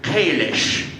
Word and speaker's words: Kalis: So for instance, the word Kalis was first used in the original series, when of course the Klingon language didn't really exist. So that had to wait 16 years until Mark wrote the first edition of the Klingon dictionary to get the pronunciation Kalish.